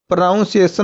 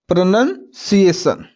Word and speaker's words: pronunciation: बोलते हैं उच्चारण और उसे कुछ लोग क्या बोलते हैं प्रोनाउंस एशन क्या बोलते हैं प्रोनाउंस एशन नहीं होगा क्या होगा प्रोनंसिएशन किसका हम सीखेंगे ए